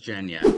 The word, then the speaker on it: Jenya: So is it Hello? Jenny or is it Jenya? It's Jenya. I thought it was Jenya.